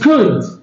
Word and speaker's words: could: The second way is could. Okay? And L is silent.